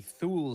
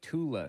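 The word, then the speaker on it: Thule: They had um the Thu Society or as they would say in Germany the Tula Society because they don't pronounce the th's. I didn't realize it was pronounced Tula until way later.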